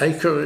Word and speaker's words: Acre: is spelt very similarly, but I think it's Acre, is it pronounced?